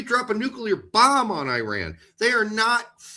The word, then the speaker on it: Iran: I I would appreciate it if you pronounced my country uh properly. It's actually pronounced Iran. Oh, whatever. Iran, Iran, Iran.